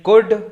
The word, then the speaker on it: could: topic है वो है गुड सबसे पहले इसका तलफ सुन लो भाई गुड है या कोल्ड नहीं है ल साइलेंट है इसमें ठीक है अब बात